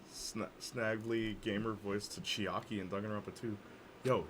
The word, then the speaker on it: Chiaki: isn't a spoiler oh it is chiaki that rhymes with hockey no i was gonna